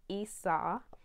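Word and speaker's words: Isa: in your way and it's pronounced esau and oh okay the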